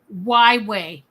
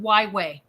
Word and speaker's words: Wyway: Yeah, I used to think it was like a different spelling of Hawaii, but she pronounces it Wyway. Oh, wow. Like the letter Y and then just say way.